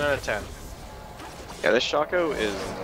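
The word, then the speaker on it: Shaco: officially called him SHO they officially call him shako that means it's open to interpretation [ __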